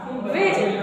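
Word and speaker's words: wedge: पढ़ेंगे हेज एच ई डी जी ई हेज वेज डब्लू ए ई डी जी ई वेज है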